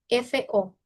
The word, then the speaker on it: fo: Hay una ligera U por ahí metidita, por ahí colada, muy chiquita. Cuando una sílaba, pues del pinyin es una consonante más una O. Fo, fo, fo, fo, fo. Y con el primer tono se siente más, ¿ok?